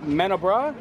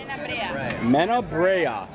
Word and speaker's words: Menabrea: Wait, I don't even, wait, how do you say it? Menabra? Menabrea.